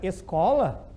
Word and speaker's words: escola: Igual se pegarem a palavra escola, o SC já não é dígrafo, porque daí tu pronuncia os dois. Pronuncia o S, o S, es, e pronuncia o C como se fosse um K, né? Escola.